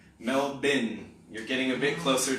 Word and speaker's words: Melbourne: like me to say male born but Australians say meld been so if you think of the bin in the corner of the room the trash can melt bin you're getting a bit